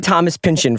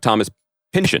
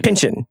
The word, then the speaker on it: Pynchon: Unless we've been saying his name wrong and it's Paul Thomas Anderson. Because he said Thomas Pynchon. I have been saying Thomas Pynchon for my whole life. Yeah, like Thomas Pynchon. Pynchon.